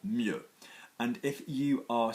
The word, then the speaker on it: mieux: people are really beginners, if you say better, which is 2 syllables, then in French you're going to go with 1 syllable, mieux.